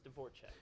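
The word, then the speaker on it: Dvorachek: Devore check yeah yep it's Grace dvorchek yeah it's pronounced different than that oh it is okay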